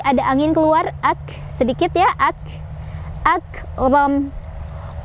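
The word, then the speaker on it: أكرم: angin keluar sedikit ya, akram. Ro-nya dibaca secara tafkhim atau tebal karena ro-nya barisnya di atas atau fathah. Cara bacanya ro-nya ditebalkan ya. Dan hati-hati, bukan akram, ro-nya tidak panjang, ro pendek karena di depannya tidak ada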